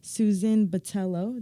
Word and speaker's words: Botello: used to go here to gront college actually Susan Batello did I pronounce that right you got it also known